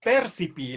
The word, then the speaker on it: percipi: Por lo tanto, este adagio, este percipi, la fuerza de voz va en la E. ¿Sí? Voy a poner una tilde solamente a efectos pedagógicos para que pronuncien bien.